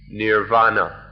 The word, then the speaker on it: nirvana: thing the supreme thing is Nibbana or the sanskrit pronunciation is nirvana so everything we've said